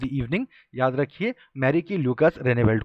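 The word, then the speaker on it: Rijneveld: ठीक है, नाम का स्पेलिंग थोड़ा सा अलग है, अजीब तो नहीं कहना चाहिए, अलग है। रेनेवेल्ट नाम से याद रखिए, मैरी जैसा ही नाम है, मैरिकी ल्यूकस रेनेवेल्ट।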